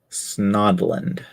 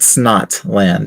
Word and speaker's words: Snodland: weird about it it's it's not snot land it's it's snod land but yeah it's only